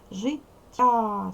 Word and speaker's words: життя: виділеного слова у нас виділене Слово Життя називаємо ж твердий приголосний і голосний тяга який подовжений позначаємо м'який це ми позначили м'який подовжений я а звук голосний життя ставимо наголос життя Ось така звукова модель у